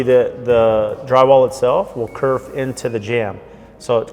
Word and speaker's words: kerf: So in just a clarification, sometimes the pronunciation is actually kerf, K-E-R-F, and that's the correct term there. It's not curb, it's not curve, it's actually a kerf jamb, K-E-R-F.